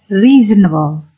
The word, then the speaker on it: reasonable: Huruf O di antara S dan N tidak dibaca, tidak dibunyikan. Dan huruf S dibunyikan sebagai Z. Jadi pronunciation dari kata ini adalah reasonable.